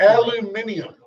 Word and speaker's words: aluminium: it's not a garage is it aluminium no why would they add an animal they have an extra syllable there that's just not there in writing there's a lot of